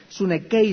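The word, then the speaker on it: συνέχει: La palabra constriñe es una palabra griega que se escribe sune con s, sune chei como suena con ch. Sunei se pronuncia y significa apretar, significa mantenerse firme, significa ser sostenido con fuerza.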